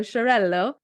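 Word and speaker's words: Xarel·lo: highlight them again so there is Sharell say it like shbl he told me say it like sh so shello but it's actually spelled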